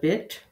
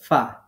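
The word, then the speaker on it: ف: মাখরাজ নিচের যে ঠোঁট আছে আমাদের নিচের ঠোঁটের পেট প্লাস উপরের দাঁতের আগা নিচের ঠোঁটের পেট প্লাস উপরের দাঁতের আগা এখান থেকে উচ্চারিত হয় ফা খুব খেয়াল করবেন আমরা অনেক মানুষদেরকে দেখি যারা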